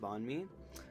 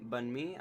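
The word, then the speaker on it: bánh mì: by a Vietnamese dish called bonme um bunme I want to say I think that's a better way to say it bunme um and it's basically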